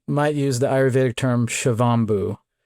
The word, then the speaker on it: Shivambu: Um people often talk about this practice as urine therapy UT or they might use the Ayurvedic term shiovu.